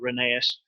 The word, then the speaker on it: Rheneas: he does mention that the emphasis on the pronunciations gallery and Rheneas sharp chat first syllable so like Scott Ren and then a s so Renee Asst you pronounce it certainly